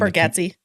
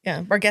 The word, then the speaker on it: Bargatze: Bargatze. Bargatze.